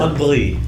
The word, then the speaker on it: Andriy: Do you want the proper Ukrainian pronunciation? However you want it to be said. Andriy.